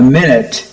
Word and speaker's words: minute: Okay, so it's called a minute. It's actually, in that instance, I think the word is properly pronounced minute, because the clerk wrote it in a small hand, small writing.